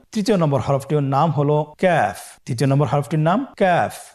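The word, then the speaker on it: ك: আবার বলুন ক্যাফ। কাফের মাখরাজ আমরা স্ক্রিনে দেখতে পাচ্ছি। কাফের মাখরাজ হলো জিহ্বার গোড়া থেকে একটু আগে বাড়িয়ে তার বরাবর উপরে তালের সঙ্গে লাগিয়ে উচ্চারিত হয়।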